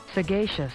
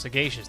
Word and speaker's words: Sagacious: Sagacious. Sagacious. That's how you pronounce it. Sagacious.